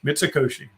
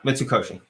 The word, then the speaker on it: Mitsukoshi: one in japan the big the big mitsukoshi mitsukoshi okay please i'm pretty sure that's how it's pronounced let me just yeah mitsukoshi good bless you speaking of japan that was